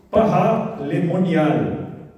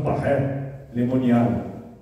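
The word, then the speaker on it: Paray-le-Monial: A devoção começa na cidade francesa de Pará Lemonial, né? Ou alguns falam paré lemonial, né? Se escreve parai com Y, parai lemonial.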